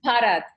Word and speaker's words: Bharat: Bharat. It's pretty close. It's all right. How do you pronounce it? Bharat. Parrot. PH, like the emphasis, you see.